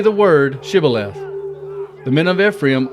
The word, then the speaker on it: shibboleth: would say the word shibboleth the men of Ephraim would not say that word correctly they pronounced the word civil left so if the men said sibileth then the men of